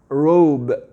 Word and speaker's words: robe: Ici, le O, on va le prononcer entièrement, comme dans les lettres de l'alphabet. O. Pourquoi? Parce qu'on a un E à la fin, tout simplement.